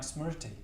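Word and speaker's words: smṛti: It's hard to pronounce, but I think it's something like smriti. So SMR, and I believe that R's got a dot under it, TI.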